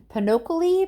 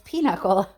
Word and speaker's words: pinochle: It looks like it's pronounced Pinochle, but I knew that wasn't right. So it's Pinochle, according to Google and my husband.